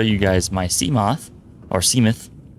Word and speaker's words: Seamoth: guys my seamoth or seamuth i kind of like to say seamuth because it reminds me of behemoth seemeth the behemoth seemeth but it's seamoth it's spelt exactly as you'd expect c-s-e-a m-o-t-h seamoth here's